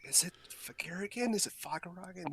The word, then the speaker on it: Fagaragan: So, Fagaragan is fine. I pronounce it Fagaragan, but Okay. Fagaragan is also acceptable.